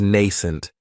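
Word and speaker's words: nascent: another great adjective is nent and this word has two syllables and the stress is on that first syllable it has the long long a sound nun that second syllable has that schah n if something is nent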